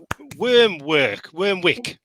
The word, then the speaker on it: Wyrmwick: Really am I pronouncing it right? Wormwick.